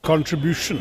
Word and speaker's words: contribution: See the emphasis on the third syllable. Contribution, contribution.